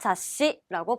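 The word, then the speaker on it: 雑誌: 그다음에 잡지는 알고 계시겠죠? 자씨라고 발음해 주시면 됩니다.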